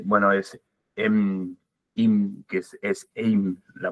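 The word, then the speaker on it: אם: Y vos nombraste a padre es Ab, en realidad la pronunciación es Abba, y madre, bueno, es Im, que es Eim la pronunciación, y la unión tanto de las palabras,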